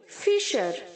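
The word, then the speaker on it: fissure: यहाँ पर जो बच्चों डबल एस है वो एस एच की तरह प्रोनाउंस करेंगे हम। ओके, फिशर, हम फिश बोलते हैं ना, मछली, फिश, तो हमें फिशर बोलना है। ओके, डबल एस जो है वो एस एच की तरह साउंड होगा।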